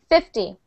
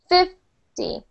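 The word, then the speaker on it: fifty: that will help you if the number is 5 Z we put the stress on fif so we go like this 50 50 50 if we're saying 15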